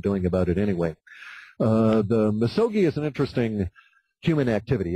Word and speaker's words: misogi: Did I pronounce that right? Yeah, misogi.